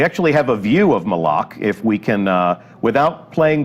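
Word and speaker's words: Malok: Official pronunciation confirmed. So Malak. if you hear anybody saying Malak, send them right here to the archive of this stream. Our design lead has told us it's Malak.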